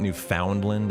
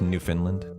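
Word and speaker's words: Newfoundland: I'm pronouncing it wrong. It's not New Foundland. It's New Finland.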